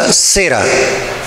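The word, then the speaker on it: זרע: la palabra simiente hermanos es una palabra hebrea que se pronuncia a cera qué será que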